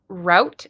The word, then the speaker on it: route: my math okay some Americans say route to rhyme without I think that's a that's a regional thing uh route Route 66